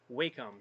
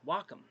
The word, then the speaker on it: Wacom: to my tablet here which I've always called Wacom for years but apparently it's pronounced Wacom I found that out years ago from one